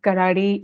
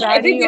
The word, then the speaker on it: Karadi: And I also just realized that I was pronouncing Karadi wrong. That's what It's not, we all do it, I think. I have heard it I as think Karadi all the everybody, time. yeah, everybody north of the Vindhyas pronounce it Yes. Yeah, I as think we see Karadi. the English. Yeah, we Yeah, see the English word and we say karadi, and yeah. it's karadi.